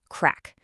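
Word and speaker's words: craic: It's spelled C R A I C and it's pronounced crack.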